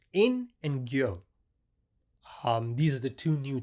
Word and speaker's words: Gyo: Master Wing said it and he said Gyo. So I think I'm saying it right.